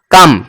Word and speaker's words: come: तो इसे आप जब प्रोनाउंसिएशन करोगे, इसको आप जब प्रोनाउंस करोगे तो निकलेगा कम, क्या कम।